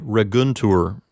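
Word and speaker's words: leguntur: the verb read guntur the peanut is GU in and that's a closed syllable since it's a closed syllable it takes longer to say so it's a long syllable even though it has a short vowel so that will get the accent and we'll say Rick Guntur moving on to the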